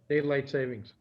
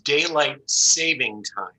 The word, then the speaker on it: daylight saving time: are we on now daylight savings okay be careful just so you know it's daylight saving time there's no it's not